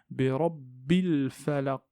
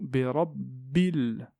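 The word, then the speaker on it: بربّ الفلق: Birabbil falaq. Regardez. Faites attention. Birabbil. Je saute du bas vers le lem. Donc le lem lunaire. Et donc la hamza de liaison, hamzat wasl, ne se prononce pas.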